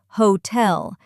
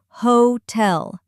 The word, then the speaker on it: hotel: Mistake number 3, putting the stress on the wrong syllable, like hotel. Some learners say hotel, but in English it's hotel. Stress on the second syllable.